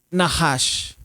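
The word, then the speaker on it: נחש: Se dice Nahash. Y aquí en la diapositiva podemos ver cómo se escribe Nahash.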